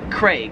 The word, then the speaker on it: Craig: it in australia and australia they pronounce it craig they really emphasize that a craig whereas in america we just kind of pronounce that name as like like as if it had an e like c cr eg craig anyways those are the